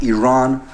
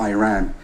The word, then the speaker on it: Iran: First of all, you say you support the Iranian people, but you're pronouncing our country's name wrong. Our country is named Iran, not Iran.